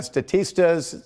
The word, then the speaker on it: Statista: clothing and gift cards that's according to uh statista that's how you pronounce that the consumer insights report so uh